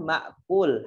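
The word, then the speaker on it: مأكول: Kemudian ma'kul, hati-hati di sana hamzah bukan alif.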